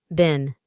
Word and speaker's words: been: Por último, en el pasado participio tenemos solo una forma para todos los pronombres, que es been, con una i corta, y se puede traducir como sido o estado.